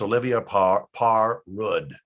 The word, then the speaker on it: Olivia Parr-Rud: You contact this lady, and you don't have to know how to pronounce her name correctly, but it's Olivia Parr-Rud.